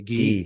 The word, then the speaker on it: ghee: yeah I'm sure uh I think it is pronounced G okay let's go with that oh no ghee it's actually ghee G yeah I I read that it was